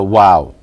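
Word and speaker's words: و: lips is the letter wow. Wow. Okay? Wow. And the description of how the wow is pronounced, if you look at the picture, it shows that the lips aren't quite closed.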